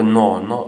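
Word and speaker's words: gnaw: मारी हुई थी तो नोन नो का मतलब होता है कुरेदना किरच ना कुरेदना ठीक है नो इसमें जी साइलेंट है तो नॉड एट द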